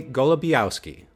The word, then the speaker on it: Golebiowski: Golabowski.